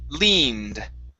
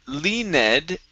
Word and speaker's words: leaned: right so instead of le ned the e is not pronounced okay so this is